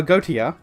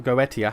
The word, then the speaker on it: Goetia: Why is the angel of judgment taking action on us for saving the world but not uh go not uh Goautia or Goetia, how it's pronounced, uh misusing God's rings or the foreign god?